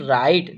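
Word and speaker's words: write: डब्ल्यू आर आई टी ई। ठीक है? इसका उच्चारण करेंगे। तो इसे पढ़ते हैं हम राइट।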